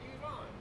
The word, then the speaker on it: Iran: Like, yeah, but it's not called Iran, it's called Iran.